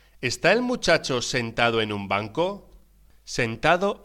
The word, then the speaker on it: muchacho: ¿De qué color son los muchachos en la escuela? Ambos, o los dos, son blancos y alumnos distinguidos. Footnotes relating to words and phrases in Tercera lección. page 15, footnotes. 1. Muchacho se pronuncia mu-cha-cho.